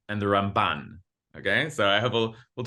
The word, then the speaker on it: Ramban: So the way that we distinguish is you hit the Rambam first syllable and the Ramban second syllable. Okay, so just some Jewish literacy, for you. The Rambam and the Ramban.